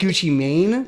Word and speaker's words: Gucci Mane: It's actually pronounced Gucci Mane. Mane, yeah, Mane. Yes, I do know that.